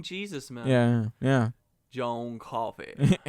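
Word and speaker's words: Coffey: man yeah yeah John coffee spelled like the drink but no wait sounds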